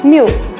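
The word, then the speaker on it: Miu Miu: And it's quite easy for you people to pronounce. It's just MU, MU.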